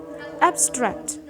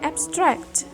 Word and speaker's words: abstract: Jadi kita bacanya karena dia sebagai adjective dan noun, kita bacanya abstract. stressnya di first syllable. Sedangkan ketika abstraknya itu dia sebagai verb, the stress is placed in the second syllable. Jadi bacanya abstract gitu. Stresnya ada di silabel yang kedua.